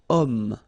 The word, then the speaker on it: homme: Remember, H is not pronounced, okay, so you've got the sound of O at the beginning of this word, okay.